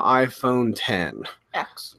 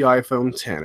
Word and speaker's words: iPhone X: it has pronounced the iPhone 10 and has not pronounced the iPhone X everybody putted the eggs Apple calls it the iPhone 10 so that is most certainly the official name of it it's the 10th anniversary